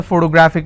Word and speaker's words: photographic: If I have another word, photographic, somebody has a photographic memory. So what are the syllable break? It's photographic. And since it's ending with IC, I will stress on gra.